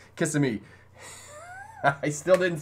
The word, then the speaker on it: Kissimmee: gotta say that right you can't say kissimmee it's kissing me i still didn't say